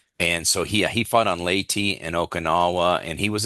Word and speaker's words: Leyte: some displays and some talks about, is it Leyte? Am I Hmm. pronouncing that Yes. correctly? Yes. Uh-huh. Late.